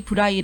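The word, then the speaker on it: Braille: 말로 하면 브레일이라고 불러요 점자를 발명한 사람이 바로 프랑스의 루이 브라이 아고 하는데요 프랑스 사람이잖아요 그래서 그 사람 이름을 영어로 발음하면 브레일이 된다고 합니다음 근데 루이 브라이가 점자를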